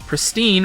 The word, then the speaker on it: pristine: In it, it informs announcers that pristine rhymes with wine.